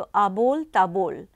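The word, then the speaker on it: আবোল তাবোল: ए बोल ता बोल बांग्ला में अगर हम प्रोनाउंस करें तो अबोल टेबल अगर हम हिंदी में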